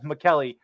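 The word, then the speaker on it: Maccelli: Matias McKelly Matias McKelly we had to do a little pronunciation check before the show because they weren't sure how to say his last name melli mcki melli but McKelly uh over one and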